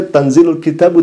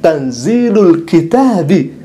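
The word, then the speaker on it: تنزيل الكتاب: isim digabung menjadi idhofah, maka bacanya bukan tanzilul kitabu. Keliru Anda. Tetapi yang seharusnya dibaca tanzilul kitabi, karena itu idofat loh mas.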